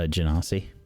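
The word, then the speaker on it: Genasi: Uh Janasi.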